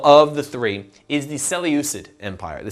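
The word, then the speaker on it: Seleucid: good the final of the three is the cell usage Empire the cell uses s e leu CID s e leu CID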